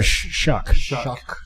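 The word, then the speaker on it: Shough: Tyler Shuck. Yeah, it's spelled funny. Is it's like sh h o u g h g h. It is. It's it's it's pronounced shuck.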